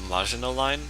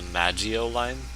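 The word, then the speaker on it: Maginot: who pronounces this line right here, the the Majino line. He pronounces it as the Magio line, the Magio line, however, however it was he pronounced it.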